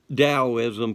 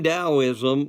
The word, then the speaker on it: Taoism: Okay, so let's look at Taoism first. Now realize you're sitting there, it's spelled with a T, not a D. But the Chinese pronounce a T like a D.